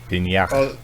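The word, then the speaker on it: Peña: Michael Pena. Pena. You said it right.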